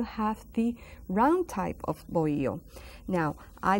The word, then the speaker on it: bohío: And these huts, we call them bohío. Bohío Taíno. See the word bohío? You also find it bohío, bohío Taíno. Without the silent H is silent. The H is silent.